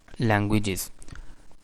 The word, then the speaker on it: languages: listening from the website languages so that stress is on the first syllable languages and the reason